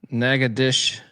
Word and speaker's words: Nacogdoches: Jerry Davis says it's pronounced Nacogdoches.